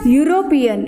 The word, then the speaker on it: European: But here E is silent and pronunciation is European. Y. Y is consonant sound. That's why I am telling you sound word is most important, not letter. Though it start with vowel letter, but the pronunciation is of consonant sound.